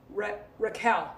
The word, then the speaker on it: Raquel: Gary I do fantastic Raquel rhymes with shell Raquel Raquel Raquel not Rochelle Rochelle one is Rochelle